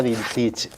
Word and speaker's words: vintage: Me preguntaba, mirá qué jodida que soy, me preguntaba por la palabra, me sonó siempre a francesa, vintage. Vintage, debe Y en ser. realidad es inglesa, de raíz inglesa, y se pronuncia vintage.